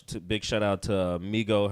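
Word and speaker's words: Meggo: Big shout out to Migo her name is Migo or mego mego is her name DJ Meo yo she's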